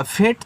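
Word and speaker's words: fate: या फिर ए के बाद एक लेटर छोड़कर के इ आए तो ए का उच्चारण ए की मात्रा के रूप में और लास्ट वाले का उच्चारण नहीं होगा।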